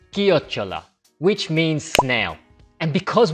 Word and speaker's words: chiocciola: you're just a beginner, you're likely to say Ciociola. Now, you might have to type that word into ChatGPT because even ChatGPT might not understand your broken Italian. Then ChatGPT can reply back with an audio of that word. Certo, ascoltane chiocciola. And we'll learn that it's pronounced as chiocciola, which means snail.